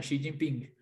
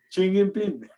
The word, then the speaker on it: Xi Jinping: Pero eso que ocurrió, creo que envalentonó a los dos, tanto a Putin como a Jin, o como se pronuncia. a Xi Jinping. Xi Jinping.